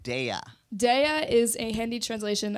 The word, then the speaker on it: Daya: but all right now your name is pronounced daya some people say daya like the girl from orange is the new black yeah your real name